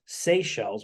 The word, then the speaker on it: Seychelles: talked about three particular places let's start with Seychelles which I looked that up how to pronounce it and did I do that right